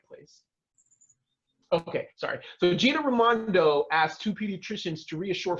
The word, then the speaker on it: Raimondo: Raimondo. Raimondo. Yeah. Like Ray, like my cousin Ray, like that, yeah.